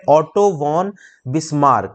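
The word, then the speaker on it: Otto von Bismarck: तो ऑटो वॉन है, VON spelling होती है, ऑटो वॉन बिस्मार्क।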